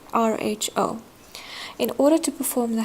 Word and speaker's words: rho: so that looks like a PU but it's pronounced as Rho Rho in order to perform the hypothesis testing using